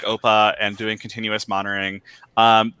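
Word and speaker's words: OPA: approaches right i think that running something like oppa which i just learned how it's pronounced today uh running something like oppa and doing continuous monitoring um that is more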